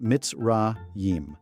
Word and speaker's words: Mitzrayim: The ancient Hebrew name for Egypt, the place where our ancestors were slaves, is Mitzrayim, pronounced Mitzrayim.